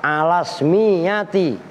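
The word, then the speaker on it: على الاسمية: ustudillah digali dalil apa alasmiyati. Tuh bacanya begitu, alasmiyati, asalnya ala ismiyati. Karena hamzahnya wasol tadi maka bacanya alas miyati ta'i, atas keisimannya tak.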